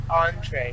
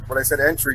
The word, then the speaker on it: entree: So, how do you pronounce that again? Entree. Entree? Yes. All right. So, like when I asked you the first time when I said entry, you didn't know what it was at all, right? Entry? Entry, yeah. I No? figured it was entree. Oh, you figured it was entree? Because Yeah. it looks the same when it's spelled. Yeah, right.